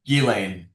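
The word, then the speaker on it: Ghislaine: Let's talk about And you pronounce her name Gillian. Uh Yeah, Gilain.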